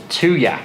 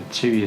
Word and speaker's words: Tuya: The app for this Interthings camera is called Tuya, which is spelled T-U-Y-A.